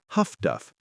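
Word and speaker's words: HF/DF: High-frequency direction finding, HFDF, pronounced Huff-Duff by the crews who operate it.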